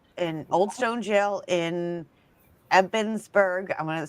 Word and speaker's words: Ebensburg: I was there last year and um it's in the old jail in Old Stone Jail in Ebensburg.